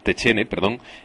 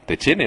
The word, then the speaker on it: Techene: Germán Alonso y Bertrand Techene, no sé si se pronuncia así, Techene o Techen o cómo se pronuncia. Techene, sí, vale.